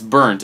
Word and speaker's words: Burnt: And it's Burnt. And I kept pronouncing it Burt while I was talking to James. So that could be a point of confusion, James. Yeah. Burt doesn't exist.